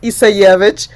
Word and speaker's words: Isayevich: Mine is pronounced Isayevich, and I tell people that it's better than a password. Nobody can say it and nobody can spell it.